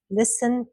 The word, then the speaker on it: listen: T, listen, castle, whistle.